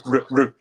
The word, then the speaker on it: Rutte: How do you pronounce his last name in English? Rutte. Rutte.